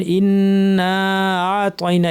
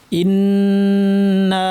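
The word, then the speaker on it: إنّا: ইন্না ইনা অনেকে ভুল করেন ইতনা এভাবে পড়েন হ্যা মানে হামজাটা শক্ত করে বললেন না শক্ত করে হামজাটা স্পষ্ট করে বলতে হবে ইনাইনকে কন্ঠর মাঝখান থেকে আমাদের শ্বাসনালীর পর্দাটাকে চাপ দিয়ে উচ্চারণ করতে হবে ইন্না কিন্তু ভারী হরফ আমাদের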